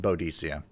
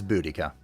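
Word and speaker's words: Boudica: both let's go also I don't recognize the pronunciation bodia it's budika you know it I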